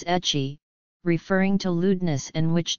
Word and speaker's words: ecchi: Mark McClelland puts forth the observation that the term hentai found itself shortened to H and that the English pronunciation was ecchi, referring to lewdness and which did not carry the stronger connotation of abnormality or perversion.